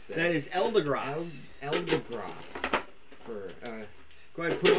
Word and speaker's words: Eldegoss: I don't know how to pronounce this. That is Eldegoss. Eldegoss.